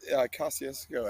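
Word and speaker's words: Kosciusko: Yeah, Kosciuszko, I think is the name, if I'm Yeah.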